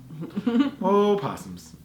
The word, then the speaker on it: opossum: them possums here yes Oh is silent yeah opossums and we will know